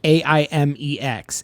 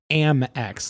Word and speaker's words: Amex: And I've never heard AIM, like AIMEX, Amex. Amex, yeah. Versus I've always heard it and pronounced it Amex, like American Express.